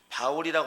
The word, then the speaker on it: 바울: 바울이라고 하는 것은 사울이라는 그 이름을 헬라식으로 발음을 한 것이고, 또 사울이라는 것은 바울이라는 이름을 이제 바로 히브리식으로 이제 발음을 한 것입니다.